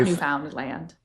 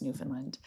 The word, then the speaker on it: Newfoundland: And it's not Newf Found Land. It's Newfoundland.